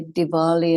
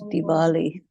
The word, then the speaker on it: Diwali: And this is why Diwali and all that is spelled with a W and not with a B, because the transliteration was done by people who use the letter W for the sound V.